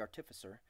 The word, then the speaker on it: artificer: called the artificer the artificer I used to say artifice err until recently when I found out how you're supposed to pronounce it but he said they